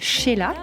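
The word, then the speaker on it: Xela: pour vous alors donc ça se prononce chez là et ça s'écrit avec un X c'est exactement et c'est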